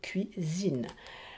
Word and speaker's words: cuisine: Entre le I et le deuxième I, deux voyelles, un S, Z, cuisine.